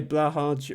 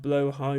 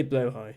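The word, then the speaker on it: Blåhaj: that uh I say blo high which is the the the important thing is the the J uh makes a i sound in Swedish uh not a j or a y or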